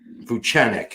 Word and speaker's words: Vucenic: Vucenic.